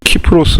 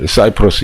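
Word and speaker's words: Cyprus: 키프로스 라고 아시는지 뭐 키프로스 라고 되어있는데 이 우리 식의 있는 거 발음이 고 그제 뭐 영어식으로 사이플러스 이렇게 사이프러스 이렇게 읽어야 된다 입니다 그래서 아 그럼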